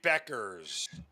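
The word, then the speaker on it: Bueckers: That would be Beckers. Thank you, Zeno. Thank you, Zeno. Mark, do we need to go over pronunciation before the show for one of the biggest stars in the WNBA?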